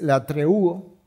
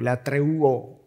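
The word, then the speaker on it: λατρεύω: Dios a quien sirvo la palabra que es usada en el original que es la treu o la treo sería la pronunciación en español donde viene la palabra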